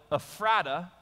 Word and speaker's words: Ephrata: to the ephrata cloister now I call it ephrata the way it's supposed to be pronounced right and because but for you so you'll know what it is we'll call it effort up we went to the